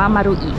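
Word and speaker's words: マルイ: อะไร มาริ มารูอิ เนาะ มี ใคร อ่าน ว่า โอ๊ย ๆ เหมือน เอิญ ตอน แรก มั่ง อ่ะ มารุ แปล ว่า วง กลม นะ คะ มัน ก็ เลย อ่าน ว่า มารูอิ มารูอิ นะ ตอน นี้ เรา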